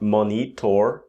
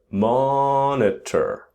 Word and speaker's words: monitor: To monitor, so monitor, not monitor, but monitor, which is to watch metrics in real time.